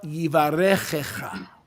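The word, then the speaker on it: יברכך: Yivarechecha, the Aaronic benediction, number 6. Sabe a bênção arônica, número 6? That's the proper way to say it.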